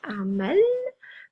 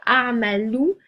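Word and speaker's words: أعمل: C'est-à-dire que armalou, ça veut dire je travaille, tout comme armal, ça veut dire je travaille. Le sens ne change pas. La seule différence, c'est que la prononciation des voyelles finales va correspondre à un certain registre de langue. On prononce les voyelles finales dans un registre de langue soutenue.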